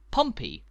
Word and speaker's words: Pompey: typically abbreviated as po stop m p stop pronounced Pompey which as you might know is the nickname